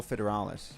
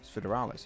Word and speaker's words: Federalis: Is it Federal or Fidales? It's Federalis. Yeah, people are saying Federalis. But how do you pronounce the E? Less. Less. Okay. Yeah, it sounds very Spanish vibe.